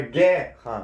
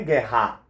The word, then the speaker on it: guerra: Então, por exemplo, guerra é uma paroxítona, certo? Por quê? Porque a penúltima sílaba é a sílaba tônica, a sílaba mais forte. Tudo bem até aqui? Então é guerra, não é guerra, certo? Se fosse guerra, teria acento, e aí sim a gente contaria. Mas como não é guerra,